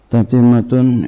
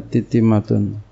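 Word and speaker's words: تتمة: Tatimatun, ini satu penyempurna. Boleh baca tatimatun, boleh juga bacanya titimatun. Tapi yang umum adalah tatimatun.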